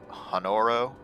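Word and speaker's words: Honoroit: i don't think that i think the t is silent honorable honoro hanoi roy honoro and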